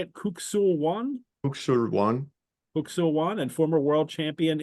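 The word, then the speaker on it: Kuk Sool Won: Kuksul-Wan.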